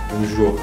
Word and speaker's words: Bonjour: Bonjour. 우리 봉주를 헬로인데. 야, 우리 저는 봉주를 헬로. 근데 진짜 발음하고 싶으면 봉주를 안 돼.